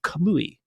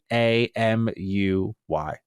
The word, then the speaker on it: Kamuy: says, quote, after leaving Tango Gameworks, he established Kamui, Kamuy. So I apologize, I mispronounced that.